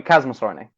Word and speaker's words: Chasmosaurinae: Okay, Chasmosaurinae or Chasmosaurinae? That would be Chasmosaurinae. CH is always K.